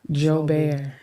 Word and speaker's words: Joubert: We want to welcome, and I'm going to be Creole tonight because I'm going to pronounce his last name like it's supposed to be pronounced.